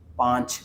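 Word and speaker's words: पाँच: വായിക്കുക അതിനുശേഷം ഇത് ചാർ പാഞ്ച് പാഞ്ച് എങ്ങനെയാണ് ഇത് വായിക്കുന്നത് എന്ന് വെച്ചാൽ ഇത് പ അതിനുശേഷം ഒരു വടിയുണ്ട് അതിനുശേഷം ഇവിടെ ഒരു കുത്തുണ്ട് ഈ കുത്താണ് ഒരു എൻ ന്റെ ഒരു ഉച്ചാരണം വരുന്നുണ്ട് ഇതില് പാ എന്നൊരു ഉച്ചാരണം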